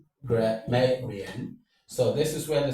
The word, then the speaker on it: grammarian: Grammarian. So this is where the stress falls on. So you have grammarian. This is what takes the stress. The stress falls on may because may is the penultimate syllable.